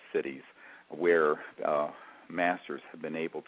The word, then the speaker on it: Siddhis: And there are many accounts, for example, in the Vedas and in the literature in Sanskrit of one of the cities, Siddhis, it's pronounced cities, where masters have been